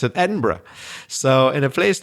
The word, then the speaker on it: Edinburgh: inhabitant of a fortified town, a Berg like Edinburgh or as they perhaps said many years ago, maybe they pronounced it Edinburg. And American tourists still do, but but British people prefer to pronounce it Edinburgh.